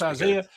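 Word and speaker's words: Izaya: And you know, when you've got a name like that and it's pronounced Isaiah, you are going to be a superstar at football or Scrabble or something.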